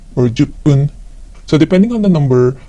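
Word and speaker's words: 十分: kyufun, 10 minutes is juppun or juppun. So depending on the number, the pronunciation of the suffix fun could change to pun.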